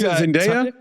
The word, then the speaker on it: Zendaya: Wait, he's Zendaya?